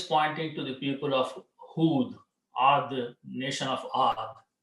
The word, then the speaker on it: Hud: Hudun was the name, okay? Or when you say stop, you say Hud, Ad and Hud.